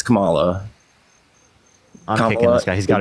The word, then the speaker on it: Kamala: You're not saying it right, by the way. It's Kamala.